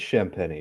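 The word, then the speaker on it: Champagnie: at his stats yeah I think it's shamp Penney by the way shamp peny thank you you're absolutely right and look at that free throw percentage wow this guy I tell you they find guys look at that 36 plus% consistently wow I'm impressed I'm a little worried looking at Spurs roster shamp champeny it's not really pronounced that way in French though right um there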